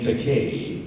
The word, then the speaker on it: Takei: So I said in this YouTube PSA, my name Takei rhymes with gay.